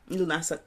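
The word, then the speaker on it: Lughnasadh: Lunasa. And that's spelled Lughnasad, and that's going again because this is like that Western, it's like Lose Day or something.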